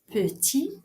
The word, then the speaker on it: petit: Par exemple, petit, son féminin c'est petite. Grand, son féminin c'est grande. Donc, il faut ajouter un T à petit qui ne va pas se prononcer au masculin ou bien un D